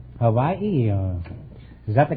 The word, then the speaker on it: Hawaii: yours no innuendos from you we invited some Hawaiian dancing girls to the program tonight now you're